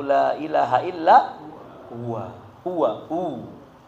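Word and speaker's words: هو: Huwa hu. Huwa hu, karena diwakafkan jadi bacanya hu.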